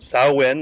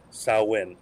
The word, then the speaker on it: Samhain: Samhain. Very good. Close. Very good. Samhain. Like, I think the first half of the word they say either rhymes with cow or actually is a female pig. Samhain.